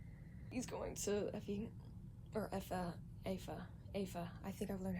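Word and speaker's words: Aoife: He's going to Effie, or Afa. I think I've learned how to say it now. Afa. Yeah, okay. It's like Ava, but with F, like Afa.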